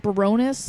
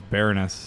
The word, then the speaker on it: Baroness: has announced the late summer US tour with pronounced Bironas no it's bareness okay VAR o Aaron ass Warren Baron VAR